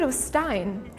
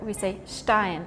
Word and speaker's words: Stein: I mean, because you would pronounce it st like Stein. Like St. But in German to this word, we say Stein. It's more like a shh sound.